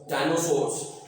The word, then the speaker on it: dinosaurs: DINO डायनोसॉर, SAURS source डायनोसोर्स। अभी जब AU आता है, AU जो है O की तकरीबन प्रोनाउंसिएशन निकालता है, डायनोसॉर्स, डायनोसोर्स इसको पढ़ेंगे।